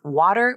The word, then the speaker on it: water: These words are spelled with a letter T, but they're not usually pronounced with a T sound.